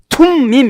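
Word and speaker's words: תֻּמִּים: 툼밈 이래야 되는데 우리나라 발음이 조금 그러니까 그냥 둠밈이라고 이렇게 번역한 거예요.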